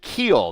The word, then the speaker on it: Keel: uh then we have Thomas Keel that is how you say his last name ke then cundy in yeah it's Keel not cool it is Keel that's what he told me so we will we